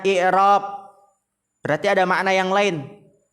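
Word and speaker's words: إعراب: Di sini i'rab dengan mengkasrahkan hamzah, dibacanya i'rab, berarti ada makna yang lain selain dari harokat tersebut.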